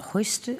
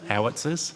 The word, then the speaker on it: howitzers: Is it hoisters? Housters? Sorry. That's right. What? Howitzers? Howitzers? Yeah, that would be it, yeah.